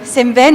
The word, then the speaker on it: Semben: Mais écoutez, Monsieur Semben, et cette fois-ci je le prononce bien comme il faut.